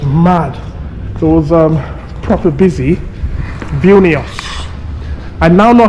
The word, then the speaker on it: Vilnius: Vilnius. I now know how to pronounce it properly. I struggled to pronounce it properly yesterday. Vilnius.